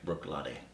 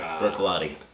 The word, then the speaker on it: Bruichladdich: say their name properly Brook L yeah it's not Brook L brck Brook ltic Brook lot Brook lot it's awesome 88 phenomenal